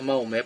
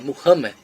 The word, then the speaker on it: Muhammad: Eu não gosto dessa pronúncia Maomé porque está errado, é Muhammad.